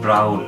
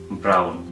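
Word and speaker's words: braun: ই কোন শব্দের মাঝে যদি আপনারা ডয়েচে আ এবং উ দেখেন তাহলে তার উচ্চারণ হবে আউ যেমন ব্রাউন এর বানানটা আমরা এভাবে লিখি পে এর আ উ এন এর উচ্চারণটা হবে ব্রাউন সাধারণত কোনো ডয়েচ শব্দের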